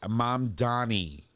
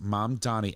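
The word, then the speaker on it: Mamdani: What are you trying to say that we pronounce it correctly? Oh, it is mom Donnie. No, it's mom Donnie.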